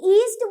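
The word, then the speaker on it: yeast: पहले बताया था, ठीक, इसको इंग्लिश में ईस्ट बोलते हैं खाली, और वाई इसका थोड़ा सा साइलेंट हो जाता है।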